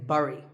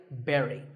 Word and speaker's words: bury: I used to say bury. I mean, it looks like that, right? But this word sounds just like the berry in strawberry. So once again, bury.